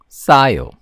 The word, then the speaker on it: 싸요: As I mentioned earlier, when you have these tense consonants, it tends to be said in a higher pitch. 사요, 싸요, 사요, 싸요. And because you're pronouncing this with a higher pitch, the air doesn't really come out of your mouth.